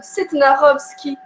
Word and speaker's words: Setnarowski: Donc, à moi, on m'a toujours appris qu'on devrait prononcer comme ça s'écrit, puisque c'est un nom de famille polonais. Donc, on dit toujours Setnarowski à la famille.